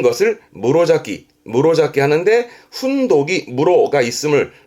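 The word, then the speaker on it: 室咲き: 요거 언급하는 이유는 발음은 무로자키.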